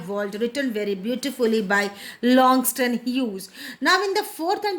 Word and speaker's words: Langston Hughes: Please pronounce it in a better manner. Langston Hughes.